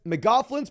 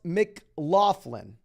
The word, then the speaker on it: McLaughlin: Lou says, McGoughlin's pronounced McLaughlin. McLaughlin. Can we have some people confirm? Because the announcers in the Denver game were McGoughlin.